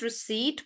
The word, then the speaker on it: receipt: So uh adjustment is basically about accommodating yourself or um yeah okay Aush so so Prai is asking why do we not pronounce the P in receipt so that's not just